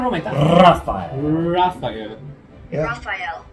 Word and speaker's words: Raphael: Raphael. It's correct, yeah? You need three syllables.